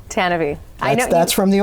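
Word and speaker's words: Tantive: And yes, it's pronounced Tannabe. Tannabe. I know. That's from the old radio drama. It doesn't look like it's spelled that way, but that's what we've seen.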